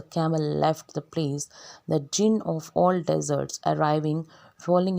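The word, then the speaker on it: Djinn: You will pronounce this word jinn. D is silent here, right?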